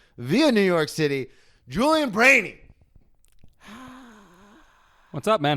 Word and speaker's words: Breheny: thing all right so my Instagram is Julian brainy it's pronounced it's pronounced brainy but spelled like brany yes uh I've been